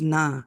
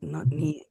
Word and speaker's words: न: I guess it's na, not ni, it's na.